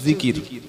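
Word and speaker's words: ذكر: উপরে বিষয়টা হচ্ছে আল্লাহর জিকির কি নাম বললাম জিকির জাল কাফ র তিনটি অক্ষরে একটা শব্দ জিকির বাংলায় থেকে হলে হবে অন্তর্য হস্ জিকর এটা বাংলায় আরবির উচ্চারণ আর অর্থ হলো আল্লাহর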